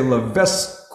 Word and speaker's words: Levesque: actually say her name is Sierra Levesque, and it's spelled L-E-V-E-S-Q-U-E. So us Americans, we might say Levesque or something, but it's Levesque, Sierra Levesque.